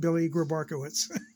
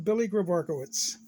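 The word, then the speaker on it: Grabarkewitz: Johnny Serena, who has a hard time saying his name, but it's pronounced Billy Grabarkowitz. When you grow up listening to Vin Scully, you learn the proper way to say these guys' names, and it cracks me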